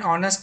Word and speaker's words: honest: hotel say another an honest man that you know because h is silent the n is used